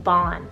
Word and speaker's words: Bon: do it b-a-n or you can do b-o-n kind of like bon iver like the artist the musician bon is the irish